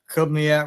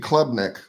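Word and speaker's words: Klubnik: Uh, you had the kid from what I can't ever say his name right from Clinton Kubnak or Clubniac or whatever. He hadn't been good. Cade Clubnick.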